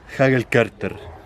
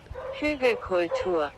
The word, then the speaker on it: Hügelkultur: Hagel Carter. Ya, pupi, pon atención. Así se dice. Hagel Carter. La pronunciación al final estuvo muy bien.